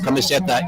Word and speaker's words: Kamiseta: does she want to do a franchise of camiseta in the us hello everybody um i'm murray